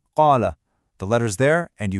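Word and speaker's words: قال: The "a" sound at the end of "qala" is written right there in the script. When you connect the words, you say "qala rabbana".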